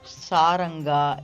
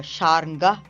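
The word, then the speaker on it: Sharnga: I had mispronounced it as saranga in the previous vlogs. I think I have mentioned that also. I'm also learning. But saranga is also a Tamil word um uh to to call the dhanush the bow. Um, sarangabani also refers to the one that is carrying uh the bow which is again the lord god but uh sharing is the right pronunciation here in this context.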